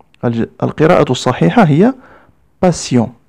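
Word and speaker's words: patience: ننتبه جيدا لكلمة passion peu de passion فهي تكتب بحرف t ولكن ننطقه s لا نقول passion. القراءة الصحيحة هي passion.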